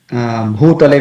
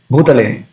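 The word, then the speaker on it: bhūtale: So instead of bhutale, we tend to pronounce bhutale, short, short u.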